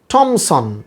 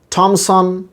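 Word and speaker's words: Thomson: উচ্চারণটা হবে থমসন, থমসন, টিএইচের উচ্চারণ এখানে টা, থমসন।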